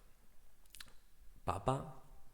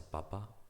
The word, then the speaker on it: papá: Some people also use the pronunciation papa to refer to his or her dad, but it's more common to say papa.